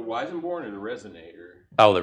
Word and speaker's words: Weissenborn: to bring that uh is it the weisenborg how do you say that the weissenborn and the resonator oh